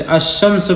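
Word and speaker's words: الشمس: हुरूफ शमसिया में से जैसे अमस पढ़ रहे ना लाम को साइलेंट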